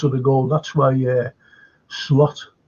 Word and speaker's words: Slot: That's why Slot, or Sloot, how you should pronounce him, he dropped him.